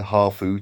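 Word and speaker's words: ハーフ: are uh mixed half as they call them here hafu to give the pronunciation half japanese half um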